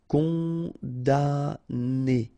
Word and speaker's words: condamné: Condamné, okay, so it's really strange because this M here, well, technically it's not pronounced. Condamné, okay, condamné.